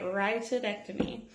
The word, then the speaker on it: rhytidectomy: okay I'm 751 one of my favorite procedures rhytidectomy and that pronounced right rhytidectomy so next to this one you can go